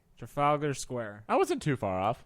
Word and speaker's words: Trafalgar Square: Trafalgar Square. Trafalgar Square. Wait, let's get that again. Trafalgar Square. Trafalgar Square.